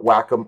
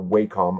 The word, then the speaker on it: Wacom: And front and center, you can see that I've got an Intuous 4 Wacom or Wacom. I like saying Wacom, but I believe it's pronounced Wacom tablet that I use for my drawings in Photoshop and in Illustrator.